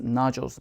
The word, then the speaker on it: nodules: 그때 여러분들이 쓸 수 있는 단어 vocal cords nodules. 발음 한번 유의해 볼까요? nodules. 나둘 뭐 이런 거 아니에요. 스케줄 하듯이 nodules 하시면 되고요.